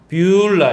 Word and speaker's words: 뷰울라: 뷰울라 따라서 해볼까요? 뷰울라 이렇게 이제 발음하는데 이게 이제 결혼한 여자란 뜻입니다.